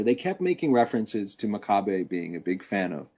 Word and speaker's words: Makabe: Is it Makabe or Makabe? It's Makabe.